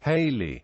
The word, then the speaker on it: Halley: Itali is commonly pronounced Haley rhyming with Valley or rhyming with daily spellings of Edmund Hal's